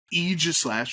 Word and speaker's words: Aegislash: I think Mega Aegislash, which I hate saying that, but that's how it's pronounced.